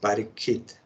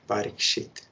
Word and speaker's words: Parikshit: So his name is Parikshit or Parikshit. It depends, you pronounce in Sanskrit or Bengali. Parikshit is Bengali.